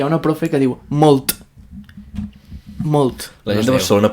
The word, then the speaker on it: molt: La T de molt, la T final, no es pronuncia. Vale? És que hi ha una profe que diu molt.